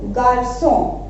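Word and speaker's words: garçon: अगर यहाँ पे हम ये सिंबल हटा दें, से दे, अगर हम यहाँ हटा दें, ठीक है, तो इसको हम किस तरीके से प्रोनाउंस करेंगे, गारको। बट विद से दे, विद एक्सेंट, हम इसको क्या प्रोनाउंस करेंगे, गार्सो, ठीक है।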